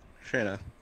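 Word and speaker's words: Shaena: name again say what how do i pronounce major is the character's name again shayna shayna thank you s-h-a-e-n-a yes shayna hilltopper oh man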